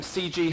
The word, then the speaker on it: CGHE: In case you're wondering, CG has a silent H like Wonkhe.